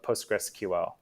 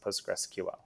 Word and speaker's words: PostgreSQL: So the commonly accepted ways to pronounce Postgres by the community are Postgres, as I've been saying, or PostgreSQL. I've heard things like PostgreSQL, PostgreSQL, and some weird intonation on that, but it's Postgres and PostgreSQL.